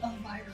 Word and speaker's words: Elvira: Is it Elvira? Is that how you say it? I've been saying Elvira the whole time. Elvira. It's just like Latin. Reading it, the I's are E's, so it's like Elvira.